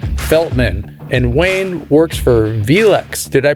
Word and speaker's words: VELUX: Today, our very special guest is Wayne Feltman, and Wayne works for VELUX. Did I pronounce it right?